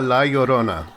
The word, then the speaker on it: La Llorona: you oh thank you how do we actually say it it's uh la yorona like okay yeah you